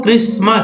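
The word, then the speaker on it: Christmas: और है सो क्रिसमस, देखिए क्रिस, क्रिस, और यहाँ देखिए क्रिस, CHRI क्रिस, और एबेसमस, टी को नहीं पढ़ना है, यानी ईसा का जन्म।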